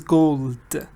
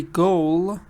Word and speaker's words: gold: Some people forget to pronounce them. Make sure that you pronounce all the consonants clearly and loudly. So gold, gold. It's a little hard for some speakers to put consonants together, so you should practice this. Remember, don't say goal, because if you drop